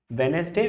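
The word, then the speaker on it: Wednesday: टी एस डे ट्यूसडे वेनसडे वेनसडे का D silent होता है तो हम क्या करें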